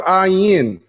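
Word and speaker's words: עין: The ayin called ayin. The letter is pronounced a lot like aleph, meaning that there's only the sound of whatever vowel that goes into it.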